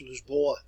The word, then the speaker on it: Lisboa: If you go to Portugal today, it's pronounced Lisboa, and set sail here